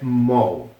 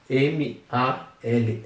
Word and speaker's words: mall: a aprender inglês, quer mall. M A L L L L L L L L se pronuncia Mall. É esse, apesar de ter a letra A aqui, tem mais um som de letra O, meio que mall.